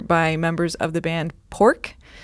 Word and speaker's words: Poruk: members of the band Pork. Not spelled the way you think it's spelled. Can you guys spell it for me? I'm going to mess it up. It's spelled Poruk. And it's not Poruk.